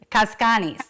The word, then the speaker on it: Cazcanes: So tell me the proper pronunciation. Of Cazcanes. Cazcanes. There we go. Cazcanes.